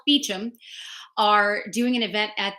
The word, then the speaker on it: Beauchamp: Oh, I read that Leonard Maltin and Carrie I want to say Beauchamp because that's how it's spelled, Beecham, are doing an event at the Los Angeles Theater.